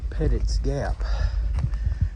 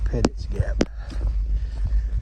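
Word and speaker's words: Petites Gap: meet us at uh pettit's Gap I think that's how you pronounce it pettit's Gap is spelled petites gout p-e-t-i-t-e-s but I heard a couple of locals call it pettit's Gap but anyway she's gonna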